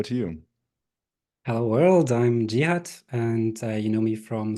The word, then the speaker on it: Jeehut: you hello world I'm gut and you know me from socials by gut that's also how you say my name that's why it's my